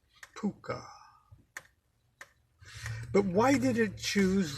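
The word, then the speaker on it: Pocuh: ah no yes really pronounced puka like Harvey the invisible six foot tall rabbit in the movie yes so there it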